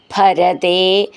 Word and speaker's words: ഭരതേ: ഭരതേ, ഭ എന്നുള്ള അക്ഷരം നന്നായിട്ട് ഊന്നി പറയാനുള്ളതാണ്. ഭരതേ പാതുകാം മേദിനീം.